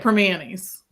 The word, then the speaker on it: Primanti's: and yes, we are home of the Primanti's sandwich, and that's how you say it, Primanti's. Like we don't enunciate a lot here in Pittsburgh. There's a lot of words that don't get the full enunciation, as the spelling goes.